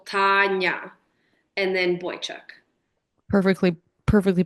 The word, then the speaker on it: Tanya: is Tanya Boychuk um people kind of call me whatever Tanya or Tanya but it's kind of right in the middle my dad when he tries to tell people how to say it's t a h so TAA and then boychuck perfectly